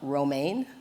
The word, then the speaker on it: Romaine: Next, I'd like to welcome Romaine, like the lettuce.